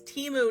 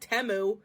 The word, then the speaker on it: Temu: they're freaking gaslighting you the name of the company is teu not temu I'm going to be